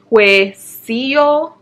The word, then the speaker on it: Huesillo: So number 9 on the list is Monteda with Girl, get your pronunciations together. Huesillo. It's Mote de Huesillo. Huesillo. Huesillos.